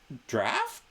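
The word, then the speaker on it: draught: realm in one long draft yeah then leave the tavern I've never heard this word used that in this way that word spelled that way is pronounced draft Yeah but it's a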